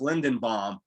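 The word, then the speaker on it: Linderbaum: And I think his name is pronounced Lindenbaum.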